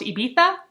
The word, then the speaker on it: Ibiza: I am realizing from the audiobook that it's pronounced Ibiza, but it's spelled Ibiza. So I'm not cultured enough to understand, but I want to say it's Ibiza. She inherited a house from